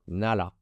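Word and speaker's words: 나라: Donc, le premier mot, première syllabe, c'est un N et un A. Donc, na. Et deuxième syllabe, c'est un L et un A. La. Donc, nala, qui est un pays.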